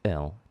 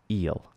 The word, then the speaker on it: ill: So ill is pronounced like so, ill, not eel.